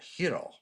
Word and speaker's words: gyro: for example, will no, it's pronounced, hero, and you're like, okay, but if I say gyro, they're not going to know what I mean.